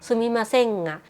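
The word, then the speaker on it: すみませんが: ตรง นี้ แล้ว ก็ ออก เสียง ต่ำ เนาะ ให้ มัน เป็น งะ ซุมิ มา เซง งะ มัน เป็น เหมือน การ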